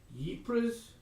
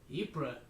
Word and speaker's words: Ypres: I can't pronounce this word. Ypres? Ypres.